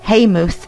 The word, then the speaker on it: Eyemouth: as a baroneal Manor imath pronounced haymuth in these parts we stopped here for